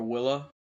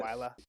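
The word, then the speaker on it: Wylla: my eyes out for Willa. Any mentions of that name? Willa. That's how you say it. Wyla. That's how I say it. I say Willa. Fuck Willa. That doesn't sound right.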